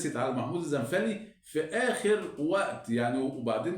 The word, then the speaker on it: الزنفلي: طبعا محمود الزنفلي، واسمه يا جماعه محمود الزنفلي مش الزنفولي، يعني في ناس بتنطق الزنفولي، لا هو محمود الزنفلي، هي العيله كده اسمها الزنفلي مش الزنفولي، لان في بعض المعلقين بيقول زنفولي ودي خطا يعني.